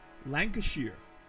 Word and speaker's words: Lancashire: Just to help with the pronunciation. Appreciate it. There you go. Lancashire.